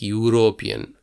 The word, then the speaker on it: European: This is an interesting problem because European doesn't start with a vowel sound. Even though it has a first letter which is a vowel, the spelling is like European. Yeah, the pronunciation is like European.